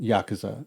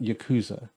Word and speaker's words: Yakuza: about it's yakuza like a dragon and it's pronounced yakuza it's not yakuza yakuza i picked it up and i didn't expect